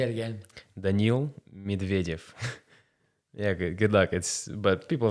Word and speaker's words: Daniil Medvedev: So I should be actually pronouncing the other Russian player's name correctly. It's actually Daniil Medvedev. He says it like that, just Say it again. Daniil Medvedev.